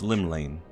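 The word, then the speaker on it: Llymlaen: shaking face all right so the game just told us how to pronounce it it's Lim Lane but everybody just says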